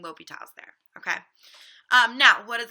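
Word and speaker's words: L'Hôpital: you spell it wrong what is not okay is for you to say lah applies because LH is not a thing you just made up that abbreviation so make sure that you're saying l'hopital's there okay now what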